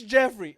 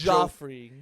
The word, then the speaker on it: Jeffrey: My name's Joffrey. No, with a he'd say G. Joffrey. It's Jeffrey. It's He says Joffrey. Your name is spelled with a fucking J, you stupid prick.